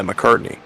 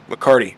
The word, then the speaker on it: McCarty: off of uh levi mccartney mccarty mccarty mccarty i'm saying it correctly i promise yeah jason